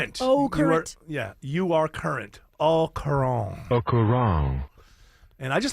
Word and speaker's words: au courant: And I always said au courant. I always pronounced the T, but apparently it's au courant.